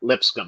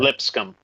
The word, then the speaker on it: Lipscomb: How the fuck do you pronounce that? Lipscomb. Lipscomb. LIP scum. No offense to any alumni in that school.